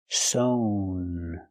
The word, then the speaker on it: sewn: And the participle is sewn with the long O sound. Sewn.